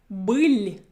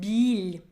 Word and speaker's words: быль: Now this syllable here is биль. Биль, which is incorrect. My first consonant is soft, but I pronounced the hard one.